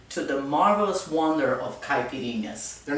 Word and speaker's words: caipirinhas: second introduce you to the marvelous wonder of caipirinhas they're not pronounced caprine oh come on you know better than that